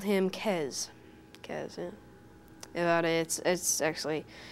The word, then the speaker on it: Kes: And you spell it K-E-Z? K-E-S. K-E-S? Yes. Pronounced Kez.